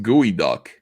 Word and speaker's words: geoduck: They're saying it's pronounced gooey duck.